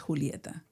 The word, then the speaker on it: Julieta: A lot of people could not pronounce Julieta.